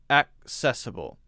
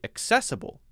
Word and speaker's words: accessible: What is being done to make sure this place is more accessible? Now, I would tend to say accessible to put the stress on the second part.